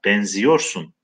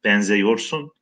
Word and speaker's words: benziyorsun: Küçük gemi enginlerde bir martıya benziyorsun. Benzemek, benzeyorsun. Kelimenin kökü ek aldığında yazımı bozulmuyor. Fakat telaffuzda benzemek diye okumuyoruz. Benzeyorsun diye okumuyoruz. Benziyorsun diye okuyoruz.